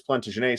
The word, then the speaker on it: Plantagenet: In fact, none of this Plantagenet stuff is new. Yes, that is how we're pronouncing it because they were French.